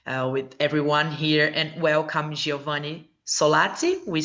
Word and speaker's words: Giovanni Solazzi: With everyone here, and welcome Giovanni Solazzi, we say? Yes, Yeah. perfect pronunciation.